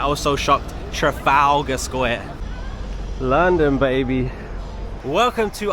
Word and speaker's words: Trafalgar: Let me say it, Trafalgar Square. I watched a video once, an American lady, she was here, and she said Trafalgar. I was like, what? Never heard anybody say it like that.